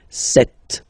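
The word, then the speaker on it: sept: all right then here remember B is not pronounced okay doesn't exist so you got this set sound set set okay then here final is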